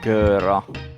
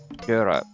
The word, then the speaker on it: göra: Jag vet vad jag kan göra. No. Jag Göra. Göra is pronounced gör. Göra. Exactly. Göra, because it's a front vowel.